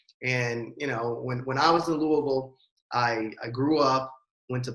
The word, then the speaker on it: Louisville: See, to a native, it's always Louisville, right?